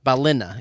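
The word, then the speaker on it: Ballina: Balina is how she said to pronounce it.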